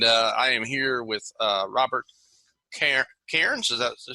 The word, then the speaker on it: Cairns: the Redneck Coffee Snob with Coffee Flight, and I am here with Robert Cairns. Is that to say it right? Cairns, yeah.